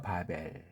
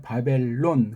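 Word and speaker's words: בָּבֶל: 바벨. 그것도 바벨이라고 해야 되는데 영어 시대의 그 깽판 노는 것 때문에 바벨론 그런 식으로 이러는 완전히 굳어져 있잖아요.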